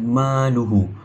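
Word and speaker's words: مالُهُ: Kita boleh jumpa mad silah qasirah pada perkataan maluhu. Maluhu ha domi itu tidak diikuti oleh huruf hamzah. Ha hukum membacanya a dipanjangkan dengan dua harakat.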